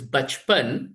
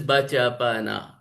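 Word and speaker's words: बचपन: word like this, uh, which ideally we pronounce it as bachpan, but if you see the writing style, there are us, right? So bachapana, four letters are written. The model would read it as bachapana instead of bachpan.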